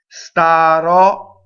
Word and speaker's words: starò: Starò, so the open O stressed at the end.